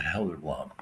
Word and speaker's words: Gelderblom: Her name's Helderblom. That's the correct pronunciation of my name, Gelderblom.